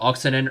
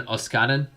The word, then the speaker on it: Oksanen: I remember when I called Jaakko Oksanen earlier in the season Oskanen. I thought the S came before the K.